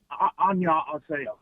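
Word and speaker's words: 안녕하세요: Anyway, annyeonghaseyo.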